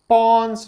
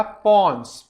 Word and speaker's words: pons: ठीक है ना, ये वो नहीं है, नहीं तो तुम लोग पॉन्ड्स समझने लगो, वो पाउडर आता है पॉन्ड्स का। स्पेलिंग याद रखना है, स्पेलिंग क्या है बेटा, पॉन्स, PONS, पॉन्स।